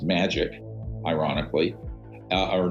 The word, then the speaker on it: Majic: the majority intelligence committee Majic is pronounced magic ironically uh or not